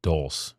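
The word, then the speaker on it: dulse: such a concentrated source of iodine i love dulce is how you pronounce it dulce seaweed it's like loaded yeah and kelp all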